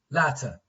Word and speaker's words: latter: This is ladder, this is latter. Like in casual speech, they are pronounced the same, okay? Ladder and ladder, ladder. So the T here is pronounced like D.